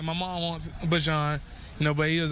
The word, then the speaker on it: Bijan: got Drake, you got Bajan. That's the right way to say his name.